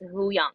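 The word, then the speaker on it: Huyang: lizard as a sidebar says the way to pronounce the droid's name is huyong thank you so much um for rosario yeah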